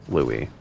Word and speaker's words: Louis: Um so his name is spelled in the uh so the S is silent. Uh so it's spelled in that French style. L O U I S. Louie.